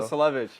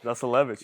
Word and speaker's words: Zasulevich: Zasulevich. Zasulevich, bro.